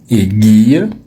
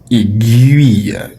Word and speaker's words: aiguille: Donc, appelle ton prof de magnétisme et dis-lui qu'on ne dit pas aiguille, qu'il doit arrêter de dire aiguille et qu'il doit désormais prononcer le mot aiguille.